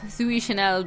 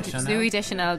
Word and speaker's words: Deschanel: Little bit of a quibble with Zooey Chanel. Is that how you say her name? Zooey Deschanel, because she's literally a manic, elfy dream girl.